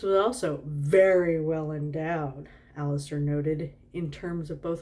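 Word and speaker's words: Alastair: it's it's spelled a-l-a-s-t-a-i-r i want to say aleister even though i think it's alistair anyway the leading man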